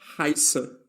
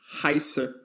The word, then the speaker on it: heiße: This letter is called SZ, or also known as scharfes S, and it's always read as SS. So, when you see this letter, always pronounce it as SS, as in the expression ich heiße.